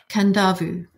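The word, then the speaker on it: Kadavu: one with the roof kandavu so in Fiji there are s there are they're not silent ends there are invisible ends so um so it's spelled k a d a v u but just got it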